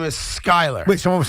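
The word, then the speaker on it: Skylar: And I should mention that the quarterback's name in Miami, it was mistakenly said earlier today on this radio station, is Skyler.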